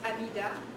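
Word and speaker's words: Hamida: Well, my name is Amida, and it's written with an H, but you don't pronounce the H.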